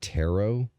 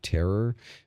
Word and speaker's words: tarot: notice how she just very casually and very normally said tarot that time around instead of terror which makes me think that for some unbeknownst reason he is mispronouncing the word intentionally weird you're opening the